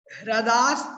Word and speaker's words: हृदास: पर जो है ना, ये देखिए हृदय अगर आप उच्चारण कर रहे हैं तो वो गलत है, आपको बोलना है हृदय, हृदय, रा, हिरी नहीं, हिरी नहीं, रा बोलना है, हृदास तेषामुपरि।